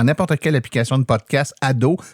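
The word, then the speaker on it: Ad'haut: Donc, vous tapez dans n'importe quelle application de podcast Ado, mais attention, ça s'écrit AD apostrophe H-A-U-T.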